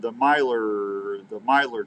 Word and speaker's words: Myler: Says howdy from the Myler tribe. See, I was calling him Miller. It's not Miller. It's Myler, I think.